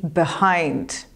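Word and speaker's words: behind: infant jest za czyli high-end i high-end zwróć uwagę że druga sylaba akcent pada na drugą sylabę i dlatego pierwsza jest spłaszczona b i druga jest wydłużona high-end i high-end no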